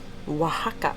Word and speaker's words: Oaxaca: Oaxaca.